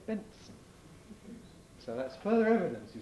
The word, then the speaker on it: Benson: in the fourth syllable benson is pretty obviously son of ben but we don't say benson we say benson and notice that people who epenthesize between n and s like fencing they say benson so that's further evidence